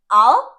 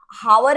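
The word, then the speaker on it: hour: हावर नहीं बोलते, एच is again silent here.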